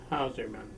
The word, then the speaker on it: Hauserman: here okay now Dan would you uh please pronounce and spell your full name for us please uh Dan Martin howman That's ha us e r m an and